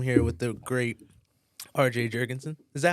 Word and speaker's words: Jurgensen: don't know if you're if you want to be ethnically um accurate it's Jurgensen Jurgensen but we're in America so the correct way to say it is Jurgensen okay yeah cool I